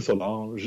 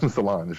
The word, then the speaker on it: Solange: I keep saying Solange as though that's how she pronounced her name. It's not right. No, she pronounces her name Solange probably. Like it's not, she's not French or whatever.